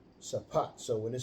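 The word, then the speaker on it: שָׁפַט: Strongs H8199 Shafat Shafat Well, they pronounce it in there Shapat, but it's sapat.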